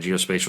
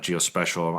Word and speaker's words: geospatial: you said it right geospatial is not GEOS special I know my business